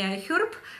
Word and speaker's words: iHerb: У меня закончились две сыворотки, которые я приобретала на iHerb. Это, обратите внимание, да, уже произношу не iHerb, а iHerb. Чуть-чуть хэ уже скрываю, просто чтобы вы привыкли к правильному названию. Американцы, англичане говорят iHerb.